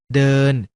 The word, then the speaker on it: เดิน: คำ ว่า เดิน อ่าน ว่า ด เออ น เดิน คำ ว่า เดิน มา จาก ด เด็ก ประสม กับ สระ เออ น หนู สะกด ว่า เออ น อ่าน ว่า เดิน ดัง